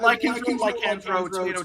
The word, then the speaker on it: Lycanthro: I've got the Lycanthro, or is that how you pronounce it? Yeah, Lycanthro, tomato, yeah, pretty much.